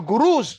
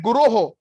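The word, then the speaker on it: गुरोः: Please note that sometimes we sing Vande Guru Sri Charanarvindam. It is a mispronunciation. It is not addressed to just one Guru. It is plural. It says Vande Guroho Sri Charanarvindam.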